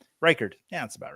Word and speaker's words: Reichard: Also start Aubrey or is that Ricard? He's a kicker, so I don't know how to say his name. Reichard.